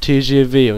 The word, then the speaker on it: TGV: ja, glaube ich, den TGV, also den Schnellzug. So ein französischer Zug, wie die Deutsche Bahn eben nur aus Frankreich. Hatte ich schon gesagt, das wird TGV und nicht TGV ausgesprochen.